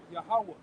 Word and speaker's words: Yahweh: Pronounce that again. Yep. Yahweh.